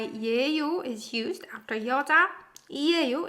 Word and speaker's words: 예요: In that case, like we learned, we can put 예요, which is pronounced 에요.